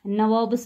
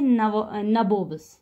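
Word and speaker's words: nawab: Company वाले हैं, उनको नवाब्स पढ़ना नहीं आता था। ये क्या बोलते थे? ये बोलते थे नबोब्स। ये इसको पढ़ते थे नबोब्स। तो एक्चुअली ये नवाब है, तो ये स्पेलिंग मिस्टेक नहीं है यहाँ पे।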